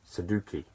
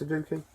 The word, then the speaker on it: sudoku: am i talking about suduki it's sudoku yeah that's our products